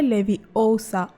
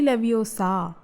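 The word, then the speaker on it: Leviosa: ये मंत्र है लेविओसा, न कि लेविओसा।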